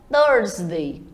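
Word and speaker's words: Thursday: nasal aí tá winsday já quinta-feira é hora de você enrolar um pouquinho essa língua e falar o dorsday Friday é escrito como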